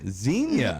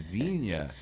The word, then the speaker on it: zinnia: sends Enya right yeah xenia the other flower yeah I've been saying it wrong this whole day zinnia I think if I